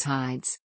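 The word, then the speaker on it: ᾍδης: The name as it came to be known in classical times was Hides. Later the iota became silent, then a subscript marking, and finally omitted entirely.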